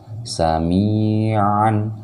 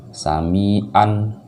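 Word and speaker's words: سمعا: Kalau ini ain, jadi beda sama alif pengucapannya. Sami'an, ada penekanan di tenggorokan. Kalau dia alif, sami'an, ya biasa aja, jadi nggak ada penekanan.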